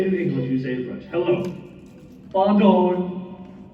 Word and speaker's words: bonjour: I don't think it's barn door or bondor, whatever you said. That's what the book say. Okay, well, are you sure you're pronouncing it right? It has a J in Oh, jor, not door.